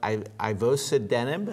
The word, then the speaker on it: ivosidenib: This is a drug, ivosidenib, if I'm saying it correctly.